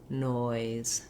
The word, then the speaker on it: noise: So for noise, I would again try saying oi, noi, noise, noise. And you may have to exaggerate a little bit on that noi.